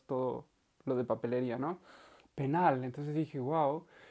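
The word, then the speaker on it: пенал: a la palabra penal la l es un poco más suave en ruso penal y esto significa el estuche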